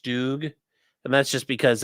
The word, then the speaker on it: StuG: Why they call it a stug?" I mean, you could call it that, but it's it's pronounced stoog.